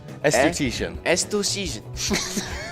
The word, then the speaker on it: esthetician: at some point okay it's it's pronounced es studition esthetician that's that's about as